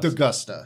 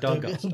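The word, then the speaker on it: D'Agosta: Is it Augusta or Dugusta? Dugusta. Dugusta.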